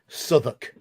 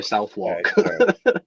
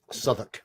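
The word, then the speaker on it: Southwark: probably say sou then yeah it is s suuk it's pronounced s just because it's in the UK if it was anywhere else I'd say southwalk yeah it's pronounced s I understand yeah yeah suoc it's a place in London okay well they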